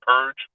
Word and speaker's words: PURG: for responsible government incorporated our acronym we pronounce as purge so one of the